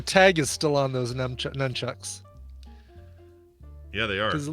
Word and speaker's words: nunchucks: Or as I called them in junior high, numchucks. That's what I call them. Nunchucks, yes, exactly. As I almost called them a minute ago. Oh, you did? I didn't hear you. Because you hit yourself hard enough, you'll be numb.